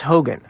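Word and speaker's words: Hougan: Um, have you read a book called Spooks by James Hogan?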